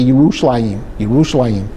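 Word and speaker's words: ירושלים: that there was there's no J's in Hebrew. Jar or in English, but today we call it Jerusalem. But if we were to talk about it in Israel, we would say yushim yushim.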